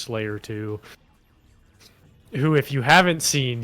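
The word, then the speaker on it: 5L4Y3R2: say yes his name is 5 L4Y3R2 parenthetical pronounced Slayer 2.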